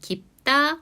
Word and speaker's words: 깊다: 자, 최종 표준 발음은 깊다, 맞습니다가 되는데요. 깊다는 앞의 예시와 마찬가지로 된소리 대기가 적용이 됐고 두 번째 맞습니다의 경우에는 또 다른 자음 동화인 비음화가 한 번 더 적용이 되었는데요.